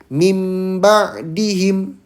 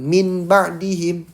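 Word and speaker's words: مِن بَعْدِهِم: Jadi dibacanya mim ba'dihim, bukan min ba'dihim ya. Jadi nun sukunnya diganti dengan huruf ba karena ada nun sukun.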